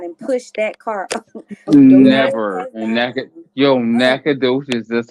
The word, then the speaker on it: Nacogdoches: Nacogdoches. That's how you pronounce it.